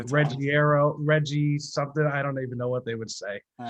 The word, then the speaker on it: Ruggiero: I'm followed by fellow Italian American and singer songwriter Ruggiero. Ruggiero. How does everybody pronounce it? Well, everybody pronounces it different, but Yeah, actually the real pronunciation would be Ruggiero. Ruggiero.